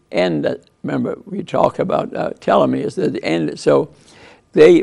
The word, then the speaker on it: telomere: pronounced telomere okay uh like there's two e's there t low mirror and uh and what